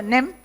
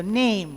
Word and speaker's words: name: It's not what's your name, it is what's your name, right? N-A-M, it's not nam, it is aim. So name, what's your name?